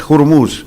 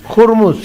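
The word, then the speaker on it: Ormuz: La pronunciación correcta es Jurmus. Jurmus. Jurmus. Ya. Eh, obviamente como la H es muda en español, la gente no lo pronuncia, pero eh el el la en la correcta pronuncia de Jurmus, ¿no?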